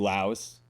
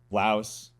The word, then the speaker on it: Laos: I think in English you can say Laos, but I think over there they say Lao. There's just no S. So you don't say the S.